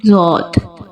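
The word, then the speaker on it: ضاد: Our next letter is dod. We can also read it zod. Dod. Dod. Dod. Dot has full sound. Raise your tongue up towards the palate to produce full sound in dot.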